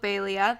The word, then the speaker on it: Baelia: other fairies do also Talia which ironically rhymes with Balia the Snow Fairy and